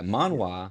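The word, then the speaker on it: manhwa: Manwa spelled M A N H W A. That's Korean. This is Manwa. M A N H U A. Man. Okay. Yes. Pronounced the same. Spelled different.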